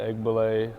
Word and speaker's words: Egbule: ahead and I want you to correct the pronunciation of your full name if you could uh or Co yeah egg ble last name okay but yeah orer Co or